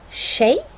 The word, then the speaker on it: tjej: Det viktigaste är om det är t, j, då uttalas det alltid som sh. Här har vi några exempel. 20, tjej, tjena.